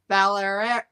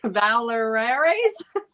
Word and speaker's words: Vallieres: How did you say to pronounce it in French? Vallieres. Valeres? Vallieres. Valeres. I'll have to practice it. Definitely have to practice that one more. Vallieres is easier for English.